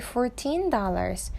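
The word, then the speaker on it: fourteen: Only $14. 14 할 때 teen 강세가 있는 거예요.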